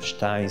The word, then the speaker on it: Stein: En Brasil sí tenemos en la persona de Guilherme Stein, o Stein, o Stein, si vamos a pronunciar más en alemán.